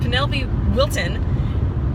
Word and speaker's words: Penelope Wilton: is also the wonderful Penelope will Wilton I always get her name wrong so Penelope Wilton is from Downton Abbey